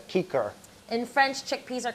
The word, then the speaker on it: cicer: Cicer, which would, in real Latin pronunciation, that's kiker. Kiker, okay.